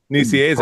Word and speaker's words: Nicieza: We're going to run out of the entire time frame if you don't try to pronounce it. Nicieza? Nicieza.